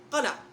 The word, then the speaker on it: قلعہ: ہے یاد رکھنا ہے۔ لفظ ہے قلعہ، کاف کے اوپر زبر، قلعہ۔ اسی طرح سے لفظ